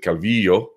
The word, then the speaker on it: Calvillo: do it's never happened and so yes she pronounces it Calvillo and that's fine but she said she understood